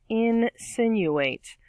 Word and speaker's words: insinuate: five word is insinuate insinuate four syllables in sin you ate stress on the second syllable there out of the four insinuate is an action